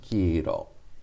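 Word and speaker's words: 黄色: you crunch it together it becomes kiro kiro so it has a long i if you wrote that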